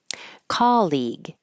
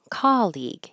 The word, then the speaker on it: colleague: lot on University campuses colleague the stress is on the first syllable C colleague he's a colleague of